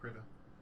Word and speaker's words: Krita: So it's called Krita.